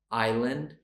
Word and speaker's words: island: correctly okay they are Island debt knee subtle knife thumb known ballet and mortgage did you get all of those correct so we have a silent s a silent b a silent k okay that is it